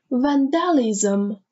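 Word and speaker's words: vandalism: بعدی وندالیزم. حواستون باشه بچه به تلفظش وندالیزم. چرا آخرش میگیم لیزم؟ چون L-I-S-M که آخر یه کلمه بیاد لیزم تلفظ میشه.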